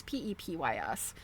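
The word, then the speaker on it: Pepys: Samuel, it's Pep Ps.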